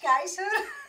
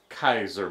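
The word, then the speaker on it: Keijzer: Lita Kaiser, but with a J. They added a J in there. Yeah. Where one and the J is silent. So it's Kaiser, not Kaiser.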